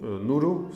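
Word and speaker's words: Knuru: a venture capital fund called Nuru, spelled with a K, K-N-U-R-U, Dubai-based, and 80% is still held by my family.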